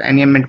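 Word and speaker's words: enjambment: तो ये क्या बोलते हैं हम इसको, एनियमेंट, ठीक, एनियमेंट, इसमें जे साइलेंट होता है तो एनियमेंट पढ़ते हैं इसको।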